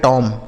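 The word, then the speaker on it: tomb: इसे पढ़ा जाएगा टॉम। इसे टॉम नहीं पढ़ेंगे बच्चों। यहां बी साइलेंट है। इसे नहीं पढ़ा जाएगा।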